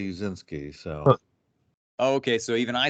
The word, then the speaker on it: Uscinski: it so really yeah they say uchinski and I say uzinski so okay so even